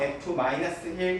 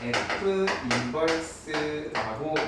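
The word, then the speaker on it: f⁻¹: 역함수라고 이야기를 하는데, 자, 이 마이너스 1은요 f 마이너스 1 이런 식으로 읽는 게 아니에요. f 인버스라고 읽을 거예요. 읽을 줄 아시죠? 나는 그냥 편의상 f 역이라고 읽을 겁니다. 그렇죠? 마이너스 1이라고 해서 마이너스 1 마이너스 1 하시면 안 된다는 거예요.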